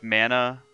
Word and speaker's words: Mana: are the members of the mana family it's pronounced mana we are the seeds of the mana tree